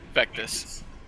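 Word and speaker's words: Vectis: Well, Like how do you someone- pronounce this guy's name? Vectus.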